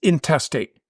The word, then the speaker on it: intestate: Not to mention, you go through intestate, which is spelled the same way as interstate without the R. It's intestate. You go through intestate, trust